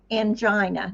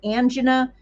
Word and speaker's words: angina: We're going to, again, look at the STEMIs, the non-STEMIs, and also there's unstable angina. Now, some people pronounce it angina, other people pronounce it angina. Both of them are correct.